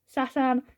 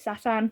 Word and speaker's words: Satan: my favorite characters that I pronounce Satan the way that they do in AI which is Satan. So I apologize for that. It's just how they say it and stuff. So it is just deeply engraved in my mind that you pronounce it Satan, not Satan.